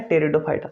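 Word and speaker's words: Pteridophyta: टेरिडोफाइटा। बेटा इसे पी से लिखते हैं लेकिन प्रोनाउंस टी से किया जाता है।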